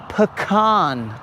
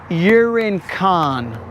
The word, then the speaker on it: pecan: If you pronounced your words correctly, Exhibit A, pecan, not urine con. Or urine can. I believe that's how she pronounces it, urine can.